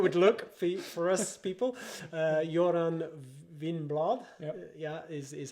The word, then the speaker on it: Göran Winblad: Göran Winblad, is how you pronounce it.